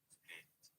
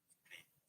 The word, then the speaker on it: Split: So locally, in Croatian, this city is pronounced Split. Split. Split.